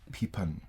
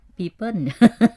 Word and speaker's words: people: People. Sometimes I hear peepin. People.